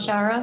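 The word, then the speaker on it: Waushara: But that was what Wild Rose Washara?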